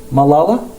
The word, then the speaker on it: Malala: that show vanderpump rules so you just have to think in terms of lala but just put ma behind it i mean in front of it so malala yusuf i'm